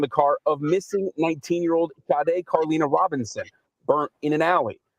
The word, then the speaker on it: Sade: Okay, y'all, it is Sade. We just heard that. Everybody was correcting me. Let's say it correctly now. It's Sade, folks. Sade. All right. I got to make myself say that. There's so many times I thought it was Sadie, and then I just was